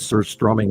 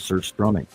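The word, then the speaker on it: surströmming: I have been in the room with Sir Strumming as a child.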